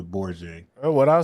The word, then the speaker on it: Borgia: Bronya. You saying it wrong? It's Caesar Borgia.